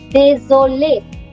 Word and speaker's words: désolé: The pronunciation is same. Now hear me out. De, zo, le. Désolé. Both pronunciation are same. Désolé. It is the spelling that changes.